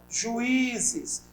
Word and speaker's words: juízes: Eu tenho aqui, ó, juízes. Separa comigo a palavra juiz. Vou separar, ó. Juízes. Veja que as duas vogais ficam em sílabas diferentes na separação. E a sílaba tônica é o I.